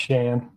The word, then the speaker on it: Shan: My name's pronounced Shane. Shane, sorry. That's all right. Everybody it up. It's like Shane with no E or Shannon with no N O N. It's just Shane.